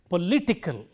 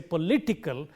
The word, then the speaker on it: political: It applies to all words of this, or even if it ends in ickle, political. When we say political, before ickle it is li, and therefore we say political, and so on.